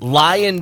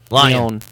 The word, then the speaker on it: Lyon: Lyon. Lyon. It's French. It says Lion, Lyon, Lion. Yes, We're in America. We're going to French. pronounce it the American way.